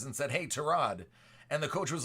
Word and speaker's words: Tyrod: anything but yeah yep it's it's trod everybody in the NFL calls him Tyrod right I know it's